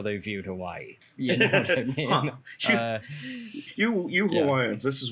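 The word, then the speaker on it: Hawaiʻi: heavily involved in in hawaiian society absolutely and by the way um i've been saying hawaii but it's uh hawaii um with a sort of a soft v on it uh i think is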